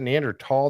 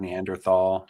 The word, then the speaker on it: Neanderthal: that was the different they talked about neander Neanderthal I thought is it neander tall that's the way they pronounce yeah they pronounce it tall I feel like growing up I always read and heard Neanderthal you know but yeah